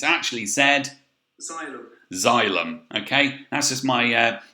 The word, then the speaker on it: xylem: xylem okay so this funny word here you actually pronounce xylem okay so z so although it starts with an x y which does make it look like a very hard word to pronounce it's actually said xylem okay that's just my uh little chum on